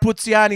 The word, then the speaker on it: Puzziani: So Puzziani, or it's pronounced Puzziani in Italian.